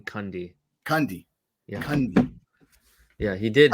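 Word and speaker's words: Cundey: he did i think i think it's pronounced dean cundy candy yeah yeah he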